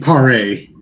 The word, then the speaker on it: Paré: I always got his last name wrong. He was in Camp Pleasant, Michael Pipiera. Oh, you mean Paré?